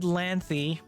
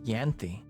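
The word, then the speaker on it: Ianthe: How would you pronounce that? Yanthy. Yanthy. Yantha. It It doesn't look Irish, but it makes me feel Irish. I'm going to Google this name. Let's see. Uh, how to pronounce this name? How to pronounce this correctly? In parenthesis. Okay, Yanthi. Okay. Well, that's what I said. So, I guess I was right.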